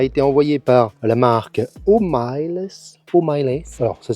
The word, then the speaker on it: Hoymiles: Ça m'a été envoyé par la marque Homiles. Alors ça s'écrit Hoymiles.